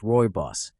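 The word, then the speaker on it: Rooibos: Roos, pronounced royos, is a naturally caffeine-free red tea from South Africa.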